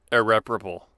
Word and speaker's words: irreparable: pronunciation i'm it's very certain that's how you pronounce irreparable that's how i've heard it said because it's